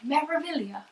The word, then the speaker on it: Meraviglia: Yeah, it took me a while to pronounce Meraviglia, and I don't think you can say it without an Italian accent, like Meraviglia.